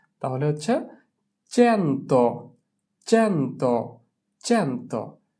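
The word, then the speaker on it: cento: চি এর পরে এ থাকলে তার উচ্চারণ হয় চে। তাহলে হচ্ছে চেন্তো।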